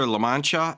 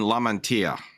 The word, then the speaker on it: Lamantia: this is minor but I hear lamancha and La Mantia uh so just for everybody if you hear both of those they're they're equivalent people just pronounce it differently what do you mean